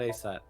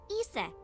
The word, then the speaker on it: Isis: accounts just dance about asap horse's mom is named isis but in ancient egyptian it's pronounced closer to isa or asa uh-huh hmm how do